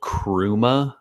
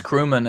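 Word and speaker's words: Chrooma: week or so it's called crew ma keyboard and it's spelled CH roo and a and we looked at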